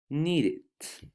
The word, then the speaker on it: needed: chart only for pronunciation remember that the words ending in T's for example here want that ends in T and the verb need that ends in D you add et because this is a regular verb but the pronunciation is with Edie like it okay for example want it need it okay need it